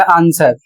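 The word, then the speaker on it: answer: अगला शब्द है ए एन एस डब्ल्यू ई आर। इसे पढ़ा जाएगा आंसर।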